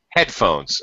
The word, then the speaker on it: headphones: So we will pronounce them with a high tone, high pitch stress in the first word and a low pitch or low stress, secondary stress in the second word. So headphones, turntable, cassette deck, like that.